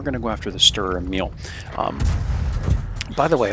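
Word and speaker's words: Strv Emil: to go after the Stir Emil. By the way, a lot of people think this is the Saint Emil. It's actually the Stir Emil, guys.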